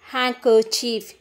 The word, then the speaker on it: handkerchief: then the last one handkerchief here we won't pronounce the letter d d is a silent letter this much is enough